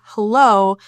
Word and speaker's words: hello: But considering how you're saying hello, a simple word can change the meaning. So the stress in hello is in the second syllable.